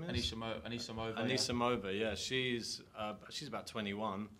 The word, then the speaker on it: Anisimova: Well, what Serena was saying, because she played another up-and-coming hopeful in Auckland, which is, I can't pronounce the name right. Anisimova, her name is? Anisimova.